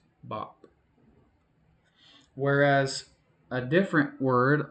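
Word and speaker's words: 밥: is rice or food, which is bop in Korean, it's still just one consonant just bop. But you listen closely and you can hear three sounds. b a p bop So, in that case you look at what's the vowel in that sound. It's a. So, you go to your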